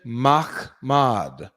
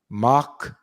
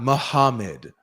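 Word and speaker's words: מחמד: This is how to say it. You see it? Transliteration. Machmad. Machmad. That's how to say it. It's not Muhammad.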